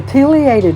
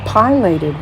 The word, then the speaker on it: pileated: sligo's unique creatures the pileated woodpecker or as some pronounce it pilated woodpecker is sligo's largest